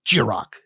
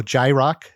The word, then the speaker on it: Jiroc: kind of hit hard i was like jirok jirak of course some people see it and they go jai rock jai rock and then i burn